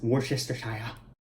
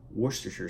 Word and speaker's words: Worcestershire: Worcestershire sauce, which could be pronounced as Worcestershire, Worcester, the proper way is to say Worcestershire sauce.